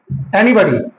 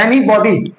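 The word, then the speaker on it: anybody: तो एनीबॉडी हां। एनीबॉडी पढ़ते हैं एनीबडी है।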